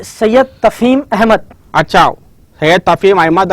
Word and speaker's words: Tafheem: जो मेरा नाम है तफहीम, तो हाँ। तकरीबन जो है ना, हाँ, तहीम, मतलब बराबर प्रोनाउंसिएशन तकरीबन थोड़ा डिफिकल्ट दिखता है लोगों को।